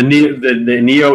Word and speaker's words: NIO: This is the how you pronounce it? NIO. It's the Neo EP9.